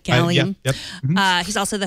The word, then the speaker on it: Gallium: I'm pronouncing that correctly, right? Gallium.